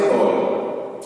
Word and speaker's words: Gaulle: ये Charles day GAULLE, गॉली नहीं, गोल।